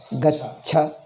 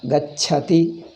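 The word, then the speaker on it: गच्छति: Gacha. Pronounce this. Gacha. You have to practice it. Gacha. Gacha. Gachati. Gachati. First cha. First cha is alpa prana. Second cha is mahaprana. Gacha.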